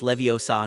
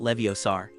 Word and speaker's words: Leviosa: After much practice, and after Hermione corrected Ron's pronunciation, "It's Leviosa, not Leviosar," she was the first to send her feathers soaring gracefully into the air, earning a beam of approval from Professor Flitwick.